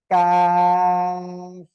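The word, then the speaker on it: قاف: প্রথমত এই যে অক্ষরটা, এটা হবে কফ মোটা আওয়াজে, আর এটা হবে চিকন আওয়াজে, কাফ।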